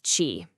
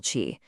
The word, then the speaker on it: qi: This is chi, pronouncedqi.